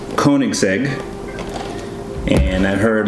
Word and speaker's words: Koenigsegg: So, just so you know, this is pronounced Koenigsegg, and I've heard like